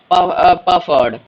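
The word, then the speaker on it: Pferd: को तो सीख लीजिए हर्स पर्ड प फर्ड यहां पफ पीस साइलेंट नहीं है पफ बोलते हैं उसे माउस माउस मस मौस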